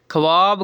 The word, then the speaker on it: ख्वाब: उर्दू ज़बान का एक कायदा है कि जब खे के फ़ौरन बाद वाव आता है तो वाव साइलेंट हो जाता है, जैसे ख्वाहिश, खवांदा, खवा मखवा, ख्वाब, ख्वाजा वगैरह।